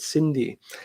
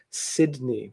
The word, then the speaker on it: Sidney: of you pointing out i always say her name wrong to be honest i always pronounced it cindy sidney thank you all